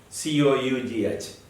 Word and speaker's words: cough: l a u g the pronunciation is f love l c o u g h cough and coughed cough and